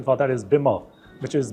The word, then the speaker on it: Bimmer: Uh but you know it is also the the nickname is also beamer but actually the correct pronunciation for that is Bimmer which is B I D M E R.